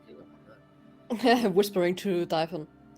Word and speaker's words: Dythun: It is Dythun.